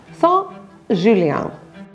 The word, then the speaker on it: Saint-Julien: You'll notice with Saint-Julien that it's in front of a consonant, so it becomes silent.